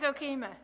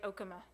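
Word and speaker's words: Okemah: win when in doubt when in doubt always okima that's and you said it correctly people from out of the area who don't know how to PR pronounce uh Native American names it's usually Oka it's not I my goodness he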